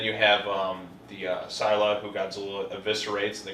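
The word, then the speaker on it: Scylla: Sil okay well Sila Sila how do you pronounce it it's Sila I know the story that apparently with Mothra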